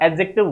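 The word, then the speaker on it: adjective: एडजेक्टिव जो word है इसमें डी साइलेंट रहता है डी डी का प्रोनंसिएशन नहीं होता एडजेक्टिव होता है एडजेक्टिव नहीं होता ठीक है हां एन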